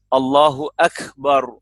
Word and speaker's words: Allahu Akbar: Kalau ba-nya tebal kan ba-nya fathah. Berarti kan Allahu Akbar. Nah, ro-nya juga doma, Allahu Akbar.